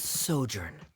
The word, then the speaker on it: sojourn: Director Zosimos, how do you pronounce this word? Let me see. Ah, that's sojourn.